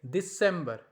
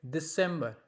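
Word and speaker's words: Dezember: That sounds like December. Now Z is pronounced like S, so we'll say like December.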